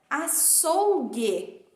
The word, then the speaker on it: açougue: eu digo a thorough então o u não é pronunciado na palavra açougue lembrando que nós estamos